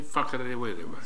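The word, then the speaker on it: Whakarewarewa: Whakarewa.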